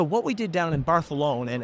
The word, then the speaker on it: Barcelona: we did down in barthelone and every time I call it barthelone I get corrected by the good people in Spain because you pronounce it like that cuz the king did and I'm like you